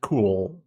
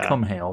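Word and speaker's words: Cúchulainn: It's like Fionn but- Cool. Like the Cum Hail it's just like cool. I don't know. It's not Cum Hail. That's not how you pronounce it.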